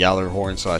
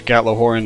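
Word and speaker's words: Gjallarhorn: the Faebringer, Swordbreaker, and the Yallerhorn / Gatlahorn, depending on which kind of person you are. So it's pronounced both ways, but through the magic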